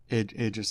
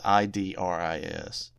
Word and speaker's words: Idris: Iris Elba. Idris Elba. Yeah, his first name is spelled I D R I S.